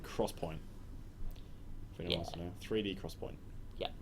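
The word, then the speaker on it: XPoint: it's called Crosspoint 3D Cross Point yeah or 3D X Point um pronounced Cross Point yeah yeah I love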